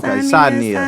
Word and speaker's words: Saaneah: Okay, my Saaneah. bad. Yeah. Like She got me Maria, together. Maria. Okay, Saaneah.